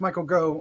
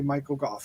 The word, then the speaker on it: Michael Gough: Michael Gough, who I've pronounced Michael Go most of my life, but I think it is actually Michael Gough, right?